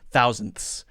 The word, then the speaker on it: thousandth: because that's even harder thousandth this is very very hard first is the N then the D but for the D we don't release it out we hold it with the tongue then the th sound then the th sound then if we have an S we'll add the s so let me zoom